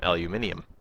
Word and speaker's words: aluminium: It's like, you know, if you go to Britain, they pronounce aluminum aluminium. Actually, you're supposed to pronounce it that way, but we in North America are stubborn.